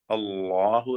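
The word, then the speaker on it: اللّٰه: അതിന്റെ ശരിയായ ഉച്ചാരണം അല്ലാഹു എന്ന് തഫ്ഹീം ചെയ്തുകൊണ്ടുള്ളതാണ്.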